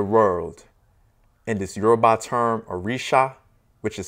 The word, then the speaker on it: Orisha: In this Yoruba term, Orisha, which is sometimes vocalized and pronounced as Orisa, meaning deities, is also